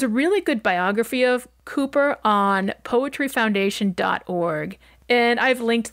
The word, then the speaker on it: Cowper: Poets of his time his name is spelled c-o-w-p-e-r and pronounced Cooper rather than as I thought when I started writing this episode calper he was born in